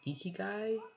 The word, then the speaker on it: ikigai: i learned was what was a philosophy called ikigai i-k-i-g-a-i i think is how you pronounce uh spell that where it's basically based